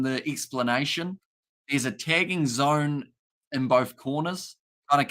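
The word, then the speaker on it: DAZN: so for the boxing you will need the Zone which is spelled d-a-z-n also we have got the attacking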